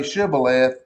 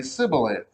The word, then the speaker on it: shibboleth: else would say it other people would say shibboleth and the ephraimites would say sibilant how does somebody from